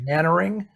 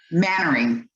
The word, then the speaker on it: Mainwaring: And his name is actually, even though it looks exactly like Mainwaring, it's pronounced Mannering. Mannering. Daniel Mannering.